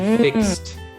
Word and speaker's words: fixed: We say, I fixed the computer yesterday. So it's another T sound at the end there. I fixed.